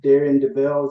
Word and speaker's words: Daren Debel: I am here with Darren Debel. Is that the correct That is You're one of the few that pronounced it correctly.